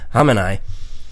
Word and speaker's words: Khamenei: That's just how I try and say his name. It's Khamenei.